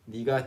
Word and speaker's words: 네가: So here we wrote it as 네가 because that's the actual pronunciation that people say this word in or phrase in, 네가.